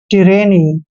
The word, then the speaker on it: tyranny: दोस्तों टी का उच्चारण हमने टे करना है और देखिए वाई का उच्चारण यहाँ पर क्या करेंगे हम ई की मात्रा करेंगे। आर को हमने रे पढ़ना है, ए को ए की मात्रा पढ़ते हैं। डबल एन का उच्चारण न करेंगे और वाई को ई की मात्रा पढ़ेंगे। टिरेनी।